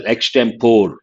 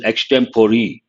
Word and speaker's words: extempore: One is usually in our country we pronounce this as extempore, but actually it is extempore.